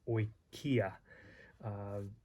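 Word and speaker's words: οἰκία: When sometimes these vowels, you naturally pronounce them together anyway, like oi as in oil, and he gives the example of oikia, and ow as in sauerkraut, ow, autos.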